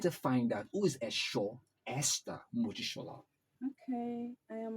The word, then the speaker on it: Esho: No, Esho Esther Mojisola. Esho, Yes. Esho. It sounds like Esho.